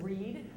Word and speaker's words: Read: as as you know my name is Allison Reed and that is spelled re e a d you can call me